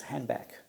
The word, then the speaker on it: handbag: Say, for example, in American English, the word handbag is sometimes pronounced as handbag. So the "d" is not pronounced.